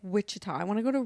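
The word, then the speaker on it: Wichita: Like witchah. I want to go to Witchah. Is that how you say it? Wikah.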